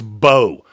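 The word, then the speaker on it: Mbow: I've been saying this kid's name wrong the entire process. It's Marcus Bo, guard out of Purdue.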